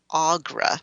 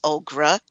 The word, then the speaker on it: Augra: settling on the name Augra. So that's why you get the confused name, because she originally was Ogra, and then they settled on Augra. So you get people pronouncing the name both ways.